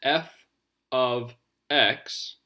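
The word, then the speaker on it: f(x): list extra information so this symbol here is pronounced f of x and that's short for function of x so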